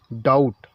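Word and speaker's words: doubt: कब साइलेंट रहता है तो जब किसी वर्ड में टी से पहले भी आया कहीं भी टी लिखा हो और उससे पहले बी आए तो बी क्या होता हमेशा साइलेंट रहता आपको इना ध्यान रखना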